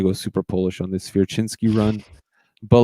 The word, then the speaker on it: Swierczynski: I can't roll it, but Swierczynski. Okay. Yeah, I always thought it was like Swierczynski, or I never knew how to pronounce it. It's definitely Polish, and that's the pronunciation of it.